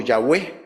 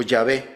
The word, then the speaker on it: Yahvé: centrar en eso pero los eruditos bíblicos casi todos están de acuerdo en que la pronunciación que en ese tiempo eh se se se extrajo de Yo soy el que soy es la palabra que hoy conocemos como yahwe o yahvé esa es más o